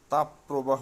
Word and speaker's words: তাপপ্রবাহ: অভিধান মতে তাপ প্রবাহ শব্দটি শুদ্ধ এবং এর উচ্চারণ তাপ প্রবাহ নয় তাপ প্রবাহ একইভাবে দাবদাহ শব্দটিও দাবদাহ নয়